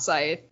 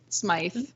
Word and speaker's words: Smythe: I always want to say Scythe, and it's not Scythe. Smythe.